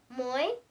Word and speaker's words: moi: Moi? Moi, pronounced as moi, it's the French word for me.